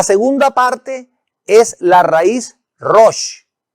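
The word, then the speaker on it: ראש: La segunda parte es la raíz rosh, que al formar la palabra se pronuncia resh.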